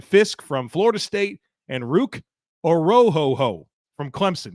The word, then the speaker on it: Orhorhoro: from Ohio State, Braden Fiske from Florida State, and Ruke Orhorhoro from Clemson. Yes, that is the correct pronunciation. I looked it up. You can miss me with any complaints about how I said his name.